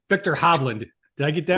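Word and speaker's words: Viktor Hovland: you can correct me when I say their name wrong Victor hobland did I get that right you got it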